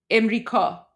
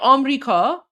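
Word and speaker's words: آمریکا: That's probably like Emrika. Emrika. Some say Amrika, so some say Amrika, some say Emrika, but that's how it is.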